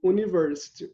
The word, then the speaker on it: university: Só que aqui, no inglês, não tem o som de U, university.